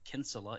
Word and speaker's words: Kinsella: it's uh irish so it's pronounced kinsella in uh in ireland over here yeah we do say kinsella over here that's not when i've